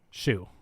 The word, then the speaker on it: Hsu: once we have Stephan it's Hsu I don't know how to say it Shu yeah Shu okay Stephanie Shu she